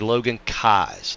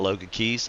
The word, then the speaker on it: Logan Kais: It is actually Logan Kais, not Logan Keys.